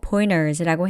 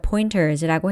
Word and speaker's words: pointers: 꼭 해서웨이처럼 t를 생략하고 pointers라고 해야 하는 건 아닙니다. t를 발음해서 pointers라고 해도 되는데요. 북미에서는 t가 뒤에 따라 나오고 다음에 강세 없는 모음이 이어나올 때 이렇게 아예 t를 생략하고 발음 가능합니다.